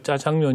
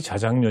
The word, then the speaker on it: 자장면: 나중에 보니까 이게 이제 우리가 짜장면 이라고 익숙하게 발음을 하고 있지만 이제 표준 말이 자장면 이라는 걸 알았어요 그렇죠 그걸 깨닫게 해준